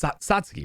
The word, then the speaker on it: Satsuki: god the film follows uh sisters oh it's satsuki right what's that like yes exactly yeah i